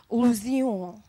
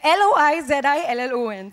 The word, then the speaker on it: Loizillon: And the international competition jury for the Silver Gateway of India for Best Actor goes to Martin Lozion, I think, because it's in French. The pronunciations are... It's Loizillon, so Martin.